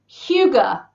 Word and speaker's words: hygge: did not Sam uh it is in fact Huga Huga Huga yeah go me and we have